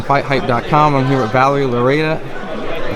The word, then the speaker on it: Loureda: I'm here with Valerie Loureda. I pronounced that correct, right? Yes, Valerie Loureda.